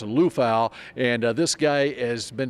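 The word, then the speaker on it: Liufau: last name it's spelled l IU F Au pronounced Lal and this guy has been described as the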